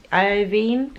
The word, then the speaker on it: Iovine: Dre and Jimmy how do you say it last name it's a vine Iovine but it's very interesting and we are now